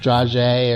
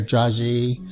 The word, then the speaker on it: dragée: These little silver balls, pronounced dragée or dragée, they're a decoration, not a confection.